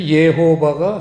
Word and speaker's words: 예호바: 뜻이 예호와 똑같죠 그래서 예호바가 사실은 가장 정확한 하나님 그 이름에 발음입니다 근데 우리는 여호와 이렇게